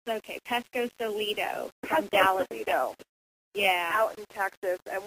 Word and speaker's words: Pescosolido: say it wrong and mess up it's okay Pesco solo yeah out in Texas and we're so excited